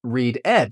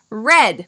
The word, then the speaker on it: read: Oh, so it is not read ed. Correct. It is not read ed. In the present we say I read. In the past we say I read red like the color red.